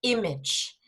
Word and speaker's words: image: Yes, you have a problem with that pronunciation, all of you. It's image. And the plural is images.